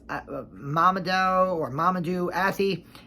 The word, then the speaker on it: Mamoudou Athie: The main character of this series is Dan Turner, played by Mamoudou Athie, I believe his name is pronounced, Mamoudou Athie, and he is fantastic.